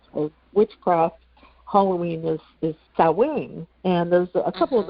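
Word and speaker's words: Samhain: Halloween is is cowing. And there's a couple of other different pronunciations. And I remember, you know, when I was younger and I first saw the word, I I always said Sam Hayne.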